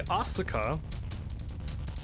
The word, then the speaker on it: Asuka: Apparently Asuka, a 3-syllable thing, sounds the same as Oscar, a 2-syllable thing.